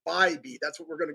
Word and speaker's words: Bybee: He actually corrected me on his pronunciation of his name. So I believe it's Tanner Bybee.